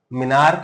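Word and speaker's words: menarche: एक चीज आती है मेनार मेनार की भी बोला जाता है इसको मिनार्क भी बोल देते हैं अपन मतलब इंडियन बट वैसे अगर सही प्रोनाउंस करें तो मिनार्क जाता है उसको ठीक है अब ये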